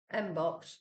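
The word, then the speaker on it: mpox: like uh it's m it sounds like box or rhymes with box right so I'm not going to say it uh which some people are saying um this actually this box Mbox is a side effects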